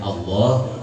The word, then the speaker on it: Allah: memang itu panjang ya Jadi bacanya Allah tapi dalam bahasa Indonesia memang tulisannya Anya satu jadi yang betul itu Allah Allah ya Allahumma itu kan panjang Allah kemudian yang ketiga